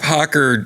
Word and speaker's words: Hoccer: something happens there that's magic I brought up Hawker and it's spelled hoc CER I brought up Hawker during